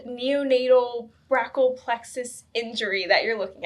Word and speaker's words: brachial: So So I think it's called neonatal brarack plexus injury that you're looking at.